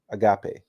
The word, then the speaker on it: agape: oh thank you Tiffany it's a Agape Agape okay according to Tiffany that's the correct spelling or correct corect U correct pronunciation Agape Okay so our purpose